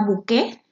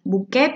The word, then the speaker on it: bouquet: Este, por ejemplo, desde el título, este poema se llama Bouquet o Bouquet, si lo pronuncio, pues más como se escribe.